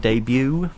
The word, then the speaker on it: debut: ago that you that you don't pronounce the sharp syllable on the end of the word debut but we don't worry